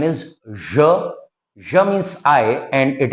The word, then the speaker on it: je: Pronunciation is je.